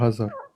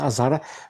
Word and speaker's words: Azhar: Azhar, pas Hazard. Pas Hazard. Oui, bref, s'il te plaît, bref. Dis Azhar, dis Azhar. Azhar. Voilà. Bref, peu importe, Azhar, je Y a pas de m'en bats la Hazard race.